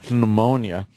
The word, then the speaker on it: pneumonia: He got a secondary infection, turned into pneumonia. Yeah, I say pneumonia, too. Pneumonia. You got to pronounce that That's P. like Django. Django. Django and pneumonia.